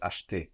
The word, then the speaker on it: acheter: But to buy is most commonly heard as acheter, acheter.